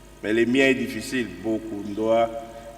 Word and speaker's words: Bokondua: Bokundoa, il y en a qui disent Bokundola, et ainsi de suite.